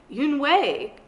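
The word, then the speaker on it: Unhei: face some kids chanted no yoon wei corrected it's spelled u-n-e-h-e-i it's pronounced yoon way oh you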